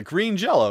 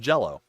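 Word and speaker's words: Green Jelly: bit uh yeah uh green jello. Yes. Green green jello spelled J E L L Y but still pronounced jello because they got sued.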